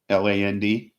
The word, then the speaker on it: Haaland: That's Haaland. It's a Dutch pronunciation.